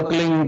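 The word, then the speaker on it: क्लीं: की मात्रा और बिंदी, उसका उच्चारण होगा क्लिंग गा। गा की ध्वनि निकलेगी पीछे।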